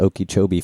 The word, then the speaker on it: Okeechobee: We wanted to bring up the Okeechobee Fest.